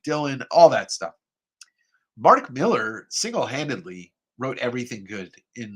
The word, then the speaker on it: Millar: Now, I know everybody usually calls him Mark Millar. It's Mark Miller. He's Scottish. He's allowed to say his name however he wants.